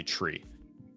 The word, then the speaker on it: three: Three, you never say three with a th you say tree.